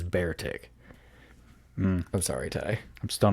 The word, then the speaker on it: Beartic: probably am okay uh trainers were unsure if its name should be pronounced be artic or bear tick it appeared several times throughout the anime each time being referred to as bear tig i'm sorry ty i'm